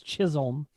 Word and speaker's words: Chisholm: right now casey's not here to correct your pronunciation it's chisholm oh chisholm thank you go ahead and do